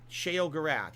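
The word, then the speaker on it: Sheogorath: Shay O Gore at Shay O Gorath.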